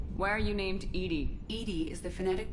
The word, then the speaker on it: EDI: the airlock open why are you named edie edie is the phonetic pronunciation of edi that is an acronym for